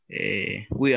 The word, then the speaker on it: where: No es weird, porque si usted dice weird, me está diciendo extraño. Weird significa extraño. Aquí la pronunciación correcta es where.